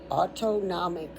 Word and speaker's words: autonomic: The next one's called the auto autonomic nervous system. Auto like automobile. Nam like N O M I C. Auto nomic nervous system. Autonomic nervous system. Okay, just taught you how to say it.